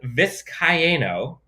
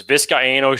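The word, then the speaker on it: Vizcaíno: of course but tristan viscayano i believe it's four syllables tristan viscayano won the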